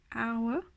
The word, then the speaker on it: hour: Mais certains mots, comme le plus connu hour, l'heure, the H, ils ne se prononcent pas.